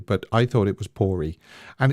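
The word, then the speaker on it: Poore: actually chosen by Ben pory I think you I I think you have to pronounce the E on the end of it p o o r e Ben if you want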